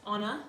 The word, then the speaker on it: Honor: Like on my team, I have 2 honors, but it's pronounced Anna because of the British accent. But when I say their name, I have to kind of say like Anna.